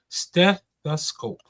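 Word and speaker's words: stethoscope: Slow down and break it down into three syllables and hit the step hard. Steth the scope.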